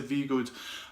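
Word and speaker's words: Voogd: And again, I think that the guy is an American entrepreneur called Peter Voogood. I hope I pronounced your name right there, Peter. It's V then good, Peter Voogood.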